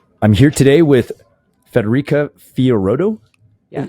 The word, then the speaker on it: Fiorotto: I'm here today with Federica Fiorotto. Yes. Is that how you pronounce the last name? Fiorotto, but you did good.